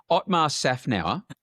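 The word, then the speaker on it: Otmar Szafnauer: Otmar Safnau.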